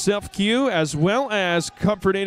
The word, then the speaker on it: CEFCU: We got CEFCU, pronounced Self-Q, as well as Comfort